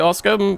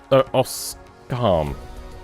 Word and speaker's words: Oscam: Thank you, Oscar, for being here. Oscram? Oscam. That's how you say it.